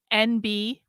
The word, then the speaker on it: NB: to use this term NB it might it's pronounced like the letter N the letter B but it's it's spelled